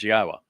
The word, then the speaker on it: Yahowah: The sixth Mizmowr, then after that introduction, begins, YAHOWAH, which is the proper pronunciation of God's one and only name as directed by his Torah teaching regarding our Chaya existence and our Shalom restoration.